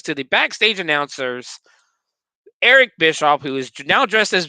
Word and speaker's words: Bischoff: I think you pronounced his name incorrectly. His name is Eric Bischoff. Eric Bischoff.